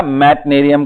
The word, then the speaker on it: Meitnerium: Okay और उसके पहले वाला था मैटनेरियम का, MEITNERIUM, मैटनेरियम, मैटनेरियम।